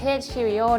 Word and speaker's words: Cirio: Also, it's pronounced Cirio!